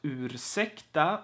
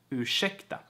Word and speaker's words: ursäkta: And ursäkta is not pronounced ursäkta, like a 40s movie, like you would hear in an old movie maybe. Ursäkta, ursäkta, fröken. You are going to pronounce R and S like sh, ursäkta.